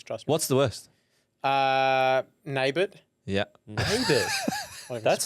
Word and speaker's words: Nabbout: My surname's pronounced Nabbout. Nabbout.